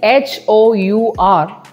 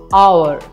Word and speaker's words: hour: and before R because even though the spelling is h o u r we are not pronouncing H as ha H is silent here the sound at the beginning is ah hour and hour that's why